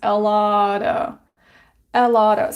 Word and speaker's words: a lot of: very often it's pronounced a lot of. So of sounds like a schwa sound.